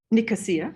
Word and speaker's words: Nicosia: Nicosia, thank you. Oh, I've always pronounced that wrong in my head.